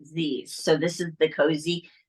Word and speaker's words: ZZZ: one, we pronounce the Z's, the ZZZ. It's like the emoji ZZZ. So we pronounce it Z's.